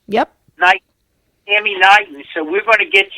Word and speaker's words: Knighton: It's Knighton. Am I pronouncing that right? Yep. Tammy Knighton.